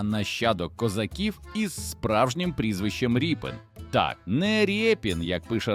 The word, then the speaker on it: Рєпін: Саме звідси походить його справжнє прізвище Ріпен. від слова ріпа, що було характерним козацьким прізвиськом. Він сам підписував свої роботи як ріпена. І літера ять у цьому випадку читається як і.